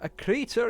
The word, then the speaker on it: Akrita: So I'm going to have a quick look up and see how that actually is pronounced. And success! Took me a good 5 minutes to get my tongue around it, but Akrita is the name of the damn world.